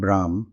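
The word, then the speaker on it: ब्रह्म: philosophy here remember that I use the term brah instead of the commonly used term Brahman to represent the cosmic Consciousness since it is closer to its actual pronunciation in Sanskrit let us now talk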